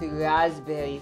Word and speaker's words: raspberry: Something that's very interesting is that raspberry has a P. Do you ever pronounce the P? Raspberry. Raspberry. I feel like when I pronounce it, I just say raspberry. Yeah, raspberry. Just like a Z kind of.